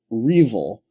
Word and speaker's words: REvil: It was R-Evil, and it's spelled R-E-V-I-L.